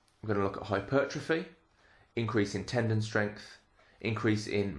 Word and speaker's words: hypertrophy: so let's get started hypertrophy you may have heard it pronounced hypertrophy either is absolutely fine and but essentially hypertrophy